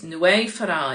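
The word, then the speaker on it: Nwyfre: very good at Gaelic, Nwy Fara. Okay, it's Nwy Fara, it's spelled N-W-Y-V-R-E.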